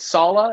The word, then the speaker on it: Saleh: Robert Saleh? Is it Sala? Is how you say it?